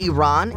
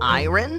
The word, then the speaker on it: Iran: Did you know the country is pronounced Iran and not Iron?